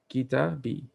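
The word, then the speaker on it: كتابي: Kitabi. So you just don't put the fatha on there. Kitabi. See, now so easy to say kitabi.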